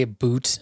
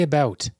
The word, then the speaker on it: about: We do not say a boot. I don't know why he thinks this is still funny. Why does he think is this funny to Americans? We just pronounce the U. We say about.